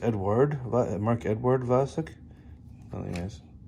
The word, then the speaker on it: Vlasic: mark edward ed uh i thought i've heard this pronounced as mark edward vlasic but it looks like it's edward mark edward vlasic really nice it's a